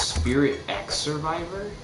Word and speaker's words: Spirit X Survivor: So it's like Hunter x Hunter, where it's the X is silent. And then he says, say X. Oh, you are supposed to say X. So it's Spirit X Survivor?